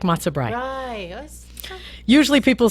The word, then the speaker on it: brei: I'm not cheesy and occasionally they say Bray which is what a donkey does but no I'm actually like the matzo brei which I've never even had so yeah bre I in German you pronounce the last ball yeah so that's that's